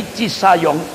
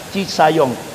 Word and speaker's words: Cisayong: Nah, ibu-ibu yang dimuliakan Allah, jadi intinya ketika Kartosuwiryo memproklamasikan, mengadakan kongres pertama negara Islam Indonesia di Cisayong, tapi tulisannya kan Cisajong, bacanya Cisayong, Jawa Barat.